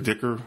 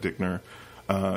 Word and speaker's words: Dicker: Or Dicker, I think it's Dicker, not Dickner.